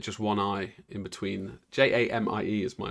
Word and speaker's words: Jamie: Jaime weird that just one eye in between j-a-m-i-e is my name j-i-m-e is Jaime Jamie um did I spell that wrong I would have thought it'd be